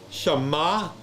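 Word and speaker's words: שָׁמַע: That's a short a. That's right here. Shama. Ma now is your emphasis because of the accent.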